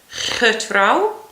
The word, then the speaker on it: getrouw: You could try a g, getrouw.